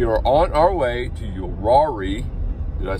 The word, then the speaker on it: Uwharrie: We are on our way to Uwharrie.